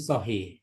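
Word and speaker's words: صحيح: Iya, sohi itu ada. dibacanya sahih. Jadi huruf sod, ha, iya, Iya dan itu dibacanya sahih.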